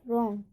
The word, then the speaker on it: wrong: ऐसे ही रॉन्ग में WRONG, यहाँ पे W और R आ रहा है, इसलिए यहाँ पर W का उच्चारण नहीं होगा, तो हम क्या पढ़ेंगे, रॉन्ग, गलत।